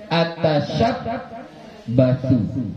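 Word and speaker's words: أتشبث: Oke, kemudian shin mu'jamah, shinnya ada titiknya, bukan sin, ya. Kemudian ba muwahhadah, banyak ada titik, bukan ya, ya, bukan ya. Kemudian yang ketiga-tiganya ini maftuhah, ya, ta, sya. Baru terakhir dengan ta mutsallasah yang ada titik tiganya. Nah, makanya dibaca atashabbathu, ya, atashabbathu. Kenapa ulama-ulama itu kalau kita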